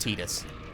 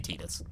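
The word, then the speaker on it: Tidus: about how that's pronounced it's definitely pronounced Titus I just I want to throw that out you that like that's that's it's definitely tedious I get it wrong too but it's definitely Titus I've actually say his name in the game they have multiple points in a like a variety of spin-off material and also it's Titus per the Japanese I think it's based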